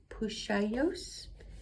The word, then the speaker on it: Puxallos: how to pronounce this i think it's pusha yos p-u-x-a-l-l-o-s but x's seem to be a sho in gallego i think i don't know